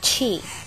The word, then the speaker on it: chi: up with with the concept of chi some pronounce it Kei um which is can